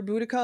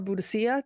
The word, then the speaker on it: Boudica: I only recognized it when she spelled it out because it's either Boudica or Boudicca, depending on how you pronounce it.